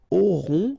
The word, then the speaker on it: auront: Then, ils auront, final T not pronounced, O-N together, on, auront, okay, and then the link between the two, ils auront, elles auront.